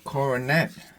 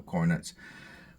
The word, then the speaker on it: Coronet: I was right corette so the second o is aw it's called the schw